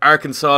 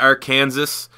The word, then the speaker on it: Arkansas: doesn't understand your culture why Arkansas is not our Kansas you know that's another point for another day because it's spelled the exact same way as the state of Kansas but um what we're